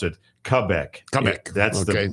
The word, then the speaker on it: Quebec: I'm sure David, if he's still listening, it got irked by that because you pronounce it Quebec. Quebec. That's the that's the actual French Canadian pronunciation, not Quebec, even though it looks like Quebec when you you look at it.